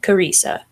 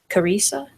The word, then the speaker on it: Karesa: my mom made up my name it's karesa but pronounced Karissa Karissa kesa oh this is